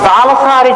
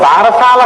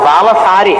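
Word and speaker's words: బాలసారె: గబగబా తల ఏదో ఆ బాలసారి చేస్తుంటారు బాలసాల కాదు బాలసారి బాలసారే అంటే బాలునకు ఇస్తున్న సారే కానుక దాన్ని బాలసాల బాలసాల బాలసాల ఎంత భారమైనా ఎక్కించారు అసలు దానికి ఉచ్చారణ బాలసారే బాలసారి యందు ఆ ప్రసవమైనటువంటి తల్లి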